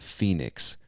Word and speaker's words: Phoenix: I know if you're reading it, it looks like Phoenix. I don't know where the origin of that word, I don't know where that word originates. I don't know where it comes from, but we pronounce it Phoenix.